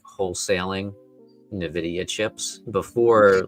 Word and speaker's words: Nvidia: Um, the correct way to pronounce it is actually Nvidia. Yeah, here it is. Novidia is incorrect. Nvidia.